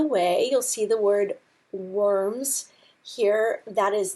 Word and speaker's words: Worms: you'll see the word worms here. That is not the word worms, so please don't pronounce it worms. In German, your W's are pronounced like V's in English, and so it's called Worms.